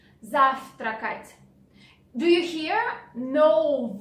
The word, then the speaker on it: завтракать: Завтракать. Take a look at this V letter. Завтракать. In spoken Russian language, we don't pronounce it like V. We say F. Завтракать.